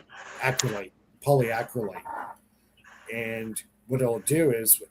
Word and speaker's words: polyacrylate: with a 3D matrix of the sodium uh poly crawly. I can't pronounce that word right. Somebody help. Polyacrylate. Acryate. Polyacrylate.